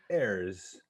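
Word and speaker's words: Herse: pronounced renee hurst uh there's no t and i don't speak french so however you want to pronounce h-e-r-s-e as a french heirs so do you what's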